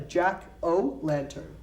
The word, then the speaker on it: jack-o'-lantern: it outside okay it's called a jack-o'-lantern a jack-o-lantern check o lantern so when you say quickly